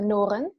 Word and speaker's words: Nooren: Eu digo Noren, mas isso é o sotaque português, porque em holandês é Noren, mas é mais difícil de pronunciar.